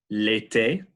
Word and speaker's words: été: So this is E accent aigu, accent aigu, which is pronounced roughly E, as in l'été.